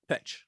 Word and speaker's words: Petsch: Tyga and Madelaine Petsch. Is that how you say it? Yep, Petsch.